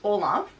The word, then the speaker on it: Olympe: I had to look up how to pronounce it, but I believe it's pronounced Olympe.